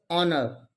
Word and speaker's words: honor: is again silent here honor h is again silent here so 8th one is